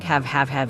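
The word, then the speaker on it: הב: bark like a dog have have in Hebrew means give but its pronunciation reines one of a dog barking have have they say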